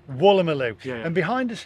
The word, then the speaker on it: Woolloomooloo: Pronunciation, Woolloomooloo. Woolloomooloo.